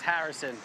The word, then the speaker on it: Harrison: I love the way you pronounce my name. That's how you do it. It's Harrison.